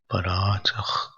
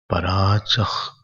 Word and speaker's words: पराचः: When visarg is coming before ka, you have to pronounce half ka. Parachah, like that, half ka. Parachah kamanananuyanti balaha te bimrityoryanti vitatasya pasham atadhiramritatvam viditva